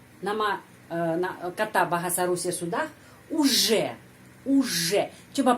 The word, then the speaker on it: уже: Я уже знаю это правило. Я уже, di sana ada huruf J, bukan Z, bukan UZ, harus я уже знаю это правило.